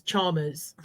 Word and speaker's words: Chalmers: Yeah, the L is silent, so it always trips people up. It's Chalmers.